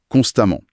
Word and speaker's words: constamment: Dans les deux cas, on prononce amant. Ah oui, c'est vrai. Constamment et prudemment se prononce pareil à la fin.